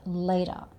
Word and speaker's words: later: Remember, we don't tend to say the R sound at the end. So this becomes later. So it ends with the schwa sound. And the T sound is sort of somewhere between a T and a D. So it becomes later.